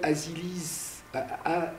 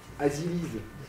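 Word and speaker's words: Aziliz: Donc, quelqu'un qui s'appelle Azilis, A-Z-I-L-I-Z, Azilis. Moi, c'est pas possible de dire Azilis. Mais pourquoi ? Parce que la phonologie du breton veut qu'on dise Azilis.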